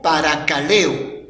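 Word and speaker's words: παρακαλέω: Esta palabra confortar viene de una palabra griego que se pronuncia como parakaleo.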